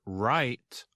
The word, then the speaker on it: rite: what it means to write your name but write r i t means a traditional or religious